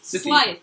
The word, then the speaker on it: Scythe: I can't pronounce it. Scythe. Scythe, that's it.